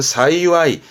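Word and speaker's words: 幸い: 행복의 행을 시아와세 하는 거고 이가 나올 땐 발음은 사이와이.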